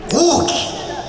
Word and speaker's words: 鷹姫: ました、高遠姫と書いて大木と申します。